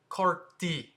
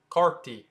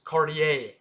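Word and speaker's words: Cartier: way to say it you don't say the r you say CTI CTI like cardi B but without the B it's just CTI and the American way to say it properly is cardier but in French the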